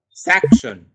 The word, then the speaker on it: section: For example, in section, you can see we give more emphasis and we speak sack as louder section.